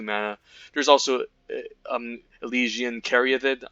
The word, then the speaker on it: Caryatid: There's also Elysian Caryatid. I used to call it Elysian Caryatid. No, I pronounced it incorrectly. It's Elysian Caryatid, which is an excellent